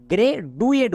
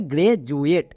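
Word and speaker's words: graduate: ই এট গ্রে জুয়েট একে অনেকে ভুল করে গ্রে ডুয়েট বলে কিন্তু এর উচ্চারণ হবে গ্রে জুয়েট তাহলে এবার এখানে দেখো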